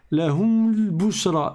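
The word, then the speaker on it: لهم البشرى: Sur le lem, le alif, on ne va pas le prononcer, n'est-ce pas? Parce qu'il est en plein milieu de la phrase.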